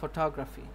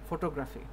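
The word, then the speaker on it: photography: যেমন ফটোগ্রাফি, ফটোগ্রাফি, right, ফটোগ্রাফি আমরা বলি, ফটো, এই যে ফটোগ্রাফি, রাইট, ফটোগ্রাফি, এই যে রাইট, আপনি যদি ফটোগ্রাফি বলেন, ফটোগ্রাফি বলেন, তাহলে কিন্তু জিনিসটা মানে প্রপার হবে না, ফটোগ্রাফি, ঠিক আছে, ফটোগ্রাফি, ফটোগ্রাফি।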